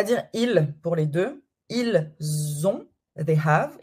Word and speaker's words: ils ont: Ils ont, they have. Ils ont comme un Z, c'est la liaison.